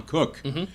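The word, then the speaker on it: Koch: used to write for Bob and Wright, Tom Cook, pronounced spelled Ko, and he wrote a thing called 83 man Squamish.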